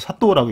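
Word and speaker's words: 佐藤: 일본에서 제일 흔한 성씨라는 사토는 실제로 사등이라고 쓰, 좌등이라고 쓰는데 이건 음으로 읽는 거죠. 음. 그래서 사토라고 읽죠.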